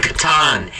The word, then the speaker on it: Catan: It's pronounced Catan, you idiot.